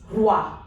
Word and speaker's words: roi: Next is OI. It is pronounced as wa. Wa. It is not oi. It is wa. So this word becomes roi.